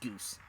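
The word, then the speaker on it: Guise: And while everyone's in such a jovial mood, you can welcome our second our second strippling, young Tom guys, pronounced goose.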